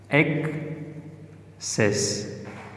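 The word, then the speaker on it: access: तो अभी आइए इसकी आवाज़ देखते हैं, सक्सेस, एक्सेस। KS CC की जगह लिखते हैं, ओरिजिनल स्पेलिंग होंगे वो ये CC का, लेकिन प्रोनाउंसिएशन होंगे KS का, सक्सेस, एक्सेस, एक्सेस।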